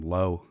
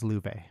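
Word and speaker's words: Loewe: Uh, the whole time you were talking about Louve, I just called him Low. Yeah. Uh, I did too until I played one of the games where it's pronounced and it is Louuv.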